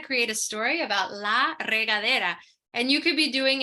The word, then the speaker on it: regadera: in Spanish it's uh regadera in Spanish sorry Ivy yeah like regard okay yeah regadera um so at this